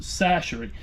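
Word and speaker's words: Chachere: with my go-to Tony sacheries Creole seasoning that's right that last name is pronounced sashery I've heard some weird prenata cherry and all kind of crazy stuff no Tony sachery's Creole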